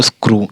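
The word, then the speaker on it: screw: W through और एस सी आर इ डब्ल्यू स्क्रू इस प्रकार से इस उच्चारण आप देख रहे हैं ये इसमें जो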